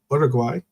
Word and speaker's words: Uruguay: Because Uruguay, actually, pronounce it correctly. Uruguay is going to be taking on Colombia today, and they are going to also have Ecuador as the game.